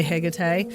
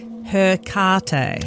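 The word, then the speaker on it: Hecate: Like, last week we did, I say hegate, and that's the way I say it. I'm Australian, I mispronounce most things anyway. Yeah. The Americans say hercate. Okay.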